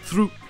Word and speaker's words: through: Aux États-Unis, ça va se prononcer slough, avec le OU qui se prononce OU comme en français, avec toujours le GH muet. Et ça, c'est bien sûr la prononciation d'un des mots les plus courants avec OUGH, through, qui veut dire à travers.